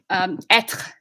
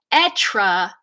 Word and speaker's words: être: So an English speaker without a good French accent would say être because we want those syllables to ring out according to our sequencing principle. But if you're saying it in French, être, that little that little piece in French is a meaningful syllable in French.